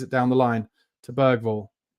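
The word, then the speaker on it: Bergvall: down the line to bergville lots of people are calling beral now but I can't quite say it right because I got a bit of a defective ass I'm GNA stick with bergville I'm also not Swedish so I shouldn't be expected to say it in exactly the right Swedish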